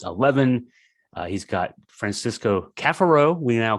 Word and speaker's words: Cafaro: uh he's got Francisco Cafaro We Now call him uh instead of coffaro he went five years almost five years and had us mispronouncing his name that's just silly but he's kafaro now um it has been